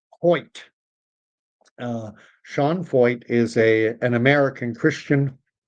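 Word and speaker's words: Sean Feucht: And we've seen a little bit of that with this guy uh Sean Fo. And that is how you pronounce his name. Fe ht, but it's pronounced fo like fo. Uh Sean Fo is a an American Christian missionary of of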